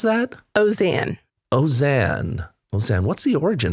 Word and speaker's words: Auzenne: Auzenne. Auzenne. Auzenne. What's the origin of that? It is French. French. That is why you have all of those vowels that don't seem to make sense.